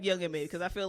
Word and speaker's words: Young M.A: I keep calling her Ma for some reason. It's spelled that way. It's no like Right. dot in Young the middle of it.